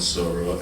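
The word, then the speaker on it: Sora: launched which is called sorrow uh or Sor as as they pronounce it which is another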